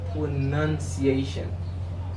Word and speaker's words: pronunciation: say pronunciation would now no it's not now in this world is not known in this word correctly you must say pronunciation pronunciation how do you say